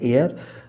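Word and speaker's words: heir: तो पहला option A जो आपका है एयर एयर मतलब होता है आपका वारिस तो यहां पे एच साइलेंट है।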